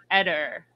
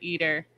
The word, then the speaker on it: Eder: I think because he's German descent that it was Edder. But they pronounce it Eater.